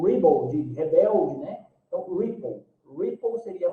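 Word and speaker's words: Replit: o início a concepção desse dessa plataforma é ripple ripple que seria a pronúncia correta né que eles utilizam talvez eh ela até comentou né que tinha a ver também com ribble de Rebelde né então ripple ripple seria a pronúncia né e o que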